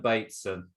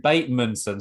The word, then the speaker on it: Bateson: running Sam podcast Alan Bateson how you doing Alan batemanson sorry mate I've got your name wrong already oh it's date soon you were right first time is it baby it